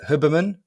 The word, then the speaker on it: Huberman: Is it Huberman?